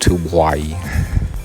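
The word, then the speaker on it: Tubuai: there's two bodies and invitations hold on it's pronounced to hawaii t-u-b-u-a-i unsuccessful in their colonizing effort the bombing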